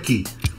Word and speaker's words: key: Se pronuncia key. Se escribe key, pero se pronuncia key. Is key. Key. Porque la E se dice I, ¿no?